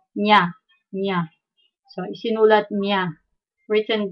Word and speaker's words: niya: When you see N-I-Y or N close to Y, it's pronounced as the Enye, Nya, Nya.